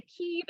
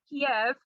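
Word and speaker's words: Kyiv: the way i say keeve instead of kiev because keeve is the way that it's pronounced in ukrainian kiev is the russian pronunciation so in uh solidarity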